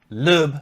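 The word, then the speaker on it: Sebastian Loeb: Lube. Lube. By the way, Thomas at Fanatic told me that's how it's pronounced, and he's from Germany.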